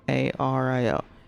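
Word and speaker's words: Illario: and it's pronounced Ario in Italian Double L is a common thing and it still pronounced l so an example of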